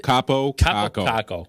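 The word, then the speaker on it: Kaapo Kakko: Is Is Cabo Kako? Am I saying it right? Yeah. Kako Capo Kako. Yeah.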